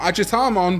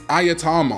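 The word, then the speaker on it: Ajatarmon: I mean, how many of you Digimon TCG players even know how to pronounce this guy? It's not Agitamon, it's Ayatamon.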